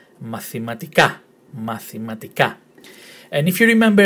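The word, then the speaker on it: μαθηματικά: Mathematica. Mathematica. Did you get that right? The tone in the last syllable. So the emphasis in the pronunciation is in the last syllable. Mathematica.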